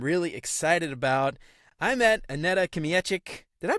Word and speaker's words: Aneta Kmiecik: today I am really excited about I met Anette kic did I pronounce that right by the way yes it